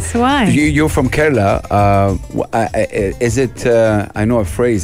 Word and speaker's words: Kerala: the iq princess of now how do you pronounce kerala you see i i'm british so i went to say kerala and house was like no anna that's wrong